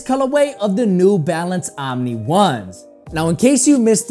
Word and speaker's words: Omni: And in the comment section of that video, you guys pointed out that it's actually pronounced Omnis, which does make a lot of sense. However, I've been pronouncing it Omni Ones ever since it made